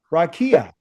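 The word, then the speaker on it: רקיע: The dome in Hebrew is called a raia. Okay. Ra and a Q. Kia. Okay. Rakia.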